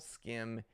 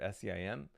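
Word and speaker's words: SCIM: Enterprise ready with saml skim and wait arbac and more I think it's arback I just learned that this is skim instead of semm uh saml I knew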